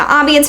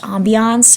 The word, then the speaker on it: ambience: I've always heard it pronounced ambiance, and I'm not even saying it like that. I looked up the pronunciation, like the correct one, and it says it's pronounced ambience, and I'm like giving a combo of the two.